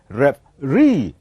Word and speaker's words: referee: do you pronounce this we pronounce this as ref really it is referee so the last syllable it is the one that will be head louder comparing to the other and so we call